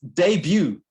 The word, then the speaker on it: debut: to say which is debut pronounced with a soft t a person's first a